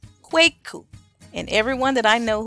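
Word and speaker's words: Kweku: Akua Akua all right so Wednesday borne males quake coupe quake coupe quake coupe Wednesday borne girls Akua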